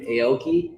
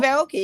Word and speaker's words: Aoki: We just picked up Steve Aoki. Am I saying it right? Wow. Yeah, Steve Aoki.